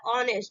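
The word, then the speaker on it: honest: इसीलिए क्या बोलेंगे ए हा को क्या करेंगे साइलेंट करेंगेi आपको बंता है ऑनेस्ट ठीक है उसके बाद नेक्स्ट रूल चलते हैं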